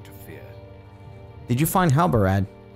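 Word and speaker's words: Halbarad: did you find halberad I feel like for the entire playthrough I have been saying Alba ran like there was an end here I might have been saying his name wrong the entire series wow did you find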